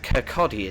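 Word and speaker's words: Kirkcaldy: Next uh second to final stop, Kcotti in three miles. I know it's spelled Kaldi, but it's Kotti.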